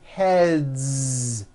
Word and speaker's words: heads: Another word, head, ends with a voiced D. So we've got one head or two heads. Heads. It's voiced. Two heads.